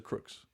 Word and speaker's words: Crooks: to the bottom of crooks Cooks is it cooks or Crooks I thought it was Cooks maybe it is